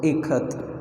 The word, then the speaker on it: Ikat: Okay, so she gave the pronunciation there. Okay, so Kha as in Kamala, Ka, and Tha as in both. So Ikat.